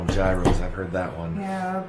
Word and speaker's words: gyro: A euro is money, but a gyro, I think it is, or I don't know how it's pronounced. It's Gyro.